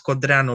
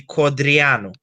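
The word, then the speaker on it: Codreanu: I'm starting to pronounce quadrano like you guys instead of the Romanian way. How's the Romanian way? Quadrano. And you say quadriano. You put an emphasis on the e.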